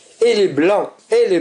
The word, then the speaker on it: blanc: personne du singulier et nous avons l'adjectif qui se termine par le C qui ne se prononce pas.